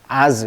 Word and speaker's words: odds: 자, 이 DSS 발음이 즈 발음이에요. 그래서 D를 발음하지 않습니다. 마치 뭐처럼? 그렇죠. 우리가 AGE라고 하죠. AGE. 후천성 면역 결핍증, AIDS. 이것도 D를 발음하지 않잖아요. 마찬가지예요. as 이렇게 발음합니다.